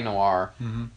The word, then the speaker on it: Noire: Which is really weird because it's spelled, I mean, like... It's got an E.